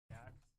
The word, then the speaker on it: Xidax: How to pronounce Zydax? Zydax.